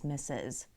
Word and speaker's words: Mrs.: And it's pronounced M-I-S-S-U-S, Mrs.